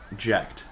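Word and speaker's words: Jecht: that basically like so okay so it's right jekt okay yeah it's je CH T and it's pronounced eject so eject is his Titus's father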